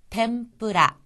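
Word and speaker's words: 天ぷら: 자 그다음에 나오는 것은 템프라 템프라 이거는요 태 다음에 응 부분이 뒤에 오는 뿌 때문에 템 하는 식의음 미음으로 발음 나고 있습니다 튀김이란 뜻이었어 습니다 자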